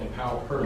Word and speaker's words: Empower Her: The first one is called Empower Her and I say it that way because the Her is spelled h e r, Empower Her.